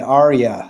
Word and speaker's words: Arya: my $250,000 in Bitcoin please thank you it's pronounced Gendry and Arya so you got both the names wrong but